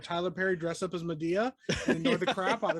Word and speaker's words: Medea: wait a second what it might be pronounced in media nope that's media i'm already calling dude wouldn't that be crazy no because then what do we do i have to look up the pronunciation on this now no i'm not no it is medea okay good okay it is with an e like m e m-e-d-e-a so i was like